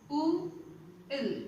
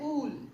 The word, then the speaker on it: wool: It's not, some people will pronounce it as saying double O, they will say ool. Okay, it's not as wool, sorry, ool. It's instead you have to pronounce it as ul.